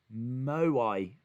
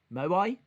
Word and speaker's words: Moai: It's pronounced Moai. Moai?